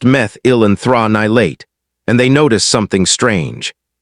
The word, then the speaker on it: methyl anthranilate: Then, almost by accident, scientists working with orange blossom extract isolated a compound called methyl anthranilate, pronounced meth-il-an-thra-ni-late, and they noticed something strange.